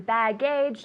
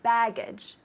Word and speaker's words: baggage: than it is a bad gauge no baggage baggage with the emphasis on the first syllable baggage tell me baggage